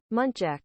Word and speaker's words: muntjac: Muntjac.